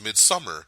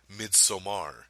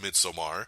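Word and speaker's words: Midsommar: mid Samar which a lot of people are pronouncing this midsummer because that's okay it kind of reads outright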